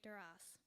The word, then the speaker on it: Duras: like Cormac McCarthy and Marguerite duras and yes you pronounce the s not to mention musings